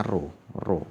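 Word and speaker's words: rho: menggunakan satuan om terus ini roh-roh bacanya ro-ro pp yang miring ini ro-ro itu hambat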